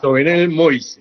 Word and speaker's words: Jovenel Moïse: Bueno, Jovenel, creo que el nombre se pronuncia así, Moïse. Jovenel Moïse.